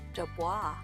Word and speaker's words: Dubois: after Idaho Senator Joe Dubois. In response, the locals began mispronouncing it as Dubo, perhaps as a way to assert their defiance over this bureaucratic change.